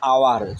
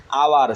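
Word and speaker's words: hour: এখানে হচ্ছে আওয়ার, যদিও এইচ কিন্তু হয়ের মতো উচ্চারিত না হয়ে আওয়ার স্বরে আ, যেহেতু আ চলে আসছে, সুতরাং এখানে হবে এন।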